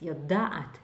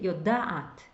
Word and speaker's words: יודעת: if you just read, often we learners mispronounce this. יודעת, double A. Don't be shy to saying this It's really יודעת. You really hear the two A's.